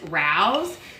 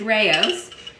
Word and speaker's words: Rao's: For the longest time, I called this Rouse, which, you know, upon reflection, I realized that would be terrible because Rouse is more of like an Asian pronunciation, and this is Italian. But it is Rao's.